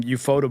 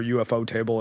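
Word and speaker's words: Ufotable: is finishing and um Euphotable or UFO Table, I guess, depending on how you want to pronounce it.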